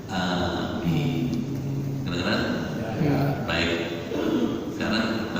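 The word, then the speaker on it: آمين: Bapak lihat alifnya ada ma, mimnya panjang, ada artinya nanti. Yang bagus bacanya amin.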